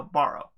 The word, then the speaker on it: Barrow: as uh um pendragon's borrow am i pronouncing that and dragon yeah no no borrow as in like burrow as in like the as in like a grape site burrow that sounds like you're